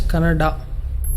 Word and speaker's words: Canada: video where people were fighting whether it's Canad or Canada people from North India should understand that it is pronounced as Canada but is it that